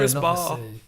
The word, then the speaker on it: CRISPR: If any listeners haven't heard about it, CRISPR is spelled CRISPR. Oh, so not like whisper. No, CRISPR.